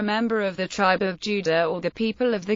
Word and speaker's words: Jude: The German word Jude is pronounced Juda.